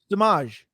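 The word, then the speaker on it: Samaje: Samaj.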